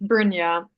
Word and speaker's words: Brynja: So it's Brynja. The ah, J is like a Y.